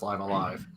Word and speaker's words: Live A Live: Yes, it has been a while since Live Alive. Yes, that's how it's pronounced, Noel.